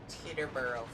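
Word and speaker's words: Teutoburg: Was it Turaborg Forest or whatever? Yep. Exactly that. Teterboro Forest. Ah, there you go. I'm American. My pronunciation of everything's fucked.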